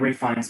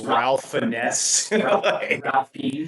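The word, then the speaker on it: Ralph Fiennes: Like Ray Fines would not spell the same.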